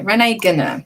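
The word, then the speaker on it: René Guénon: NDN on Twitter uh DM'd me with the correct way to say Renee Ganor Gunnar Renee Gunner. Okay, Renee Gunner. There we go. I've said it correctly.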